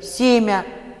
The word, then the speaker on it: семя: Вот по правилу должно быть семя, то есть короткий ерь должен быть после мягкого во второй степени редукции. А произносим мы короткий такой «а», да, то есть «ер», «семя». Ну, давайте «ся» в глаголах, как произносится, да?